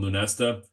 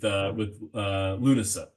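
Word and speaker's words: Lúnasa: the Dingle folks, I kept on calling this one Lunesta, which is definitely not correct. So finally I've gotten it online with Lunasa is how you say that.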